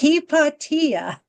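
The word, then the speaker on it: Hypatia: said, "No, no, no, no, no, no. It's heippatia." And that's how the Greeks called her, Heippatia.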